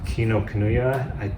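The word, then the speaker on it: Kinokuniya: bookstore near my studio kino kanuya that's how you pronounce it and they sell really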